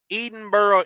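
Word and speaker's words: Edinburgh: Edinburough and kingsman Arizona e edenboro Indiana yeah there you go there you go oh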